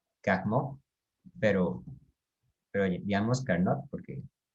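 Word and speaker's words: Carnot: máquina térmica de carnets era un ingeniero francés que se pronuncia en realidad calmo pero pero limpiamos candado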